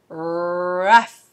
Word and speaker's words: rough: So we're going and how does GH sound at the end? Fa. So it's fa, fa, fa. Rough, rough.